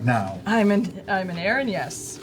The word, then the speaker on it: erinyes: Aranyes. Uranus. Aaron, yes. Aaron, like Aaron Yes. Yeah, it's got yes baked right in.